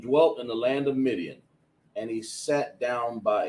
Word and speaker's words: Midian: This is pronounced Midian, right? Midian.